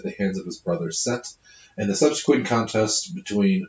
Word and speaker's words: Set: So I just want to say this, Set is spelled Seth in here, but I know from at least two classics professors that it's pronounced Set, so I'm going to continue to say that.